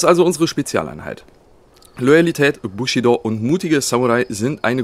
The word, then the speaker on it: Bushido: am Bushido ganz wichtig wird nicht Bushido ausgesprochen wenn ein Deutsch Rapper seinen Namen tatsächlich Bushido aussprechen sollte macht er das falsch im japanischen sind alle Silben gleich lang also Bushido Weg des Kriegers so